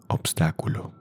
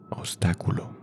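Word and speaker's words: obstáculo: Everyone know what is an obstacle and what is the pronunciation and translate that word in Spanish? Obstaculo. Obstacle. Obstaculo.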